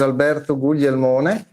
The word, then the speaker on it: Alberto: yes hi everyone uh by the way you pronounced it correctly my name is Alberto I'm 56 I'm Italian I live and work